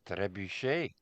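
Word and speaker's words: trebuchet: You got to say it properly. It's trebuche.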